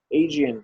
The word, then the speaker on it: Aegean: The Aegean Sea, the Aegean Sea. So Aegean, Ionian, and Mediterranean.